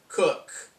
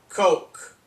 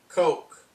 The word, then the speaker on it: Koch: They have kept calling her Christina Cook. Her name is spelled K-O-C-H. Now, let me tell you, that name is pronounced Coke. Coke. Not Cook. Coke.